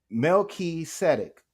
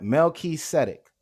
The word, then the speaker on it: Melchizedek: word right here is Melchizedek when you read it in the Greek it's pronounced just as it looks Mel key static right Melky setic now let's look at